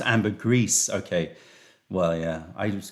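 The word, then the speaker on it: ambergris: know you know George the poop oh it's pronounced Amber grease okay well yeah I was going Amber GRE yeah it's close enough um right favorite tea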